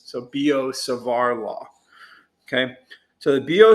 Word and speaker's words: Biot-Savart: sarvae or sorry savar savar because it rhymes with bizarre okay so bo and just imagine replacing that b right there with an s so bo savar law okay so the